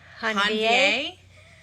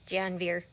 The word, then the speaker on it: Janvier: Hanvier? That's what I was going to say. Hanvier? Or if we pronounce it super American, it's Janvier.